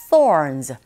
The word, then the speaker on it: thorns: 자, 윗니로 아래 그 혀를 살짝 긁어주시면서 thorns. R 사운드가 들어가 있으니까 thorns 하시면 돼요.